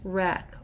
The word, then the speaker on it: REC: renewable energy certificate or Rec pronounced wreck or like rack like the w-r-e-c-k like a car wreck is a market-based instrument